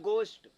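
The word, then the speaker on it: ghost: भूत की English घोस्ट होता है, इसको करेक्ट प्रोनाउंस होता है गोस्ट, लेकिन आप घोस्ट ही बोलो, नहीं घोस्ट से गोस्ट में चले जाओगे, पंगा हो जाएगा, है ना?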